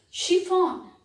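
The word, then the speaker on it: chiffon: type of drink champagne she found she found ch again and if the sound is sure she found it's a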